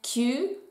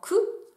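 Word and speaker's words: 九: On continue avec le chiffre 9 qui se prononce en japonais kyu, parfois contracté en ku.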